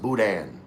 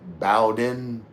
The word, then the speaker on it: boudin: hell that word was, it's pronounced boudin. Boudin. Looks like it would be like Bowden, but no, it's boudin.